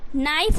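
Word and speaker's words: knife: आपको मेंशन नहीं करना उच्चारण जो है इसका आप के साइलेंट करोगे बट लिखने जब आप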